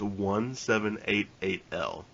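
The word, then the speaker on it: 1788-L: is pronounced it is it is correctly pronounced 1 7 8 8 l are you sure yes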